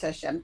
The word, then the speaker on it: Hashem: Hashem. So it is pronounced Hashem, as opposed to Yudhei Vavhei.